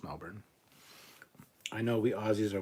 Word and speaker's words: Melbourne: It sounds weird how you guys pronounce an Australian city like Melbourne. It's pronounced Melbourne. It's not, though. It's Melbourne.